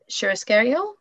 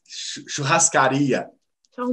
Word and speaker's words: churrascaria: And well, I remember now one of our favorite restaurants here in Niagara Falls is Churrascario? Churrascaria. Oh my goodness, my pronunciation is awful. Churrascaria. Churrascaria, that's perfect. Churrascaria.